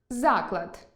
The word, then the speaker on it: заклад: – родовий відмінок від слова «вага»); вІдомість (документ) і відОмість (популярність); зАклад (установа) і заклАд (умова або застава); зАхват (піднесення,